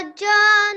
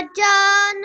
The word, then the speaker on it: جاء: Okay, so we have to make sure that we have to pronounce this mud on top of the alif. Okay, and that is done by elongating the sound of ja out for about 3 to 5 seconds.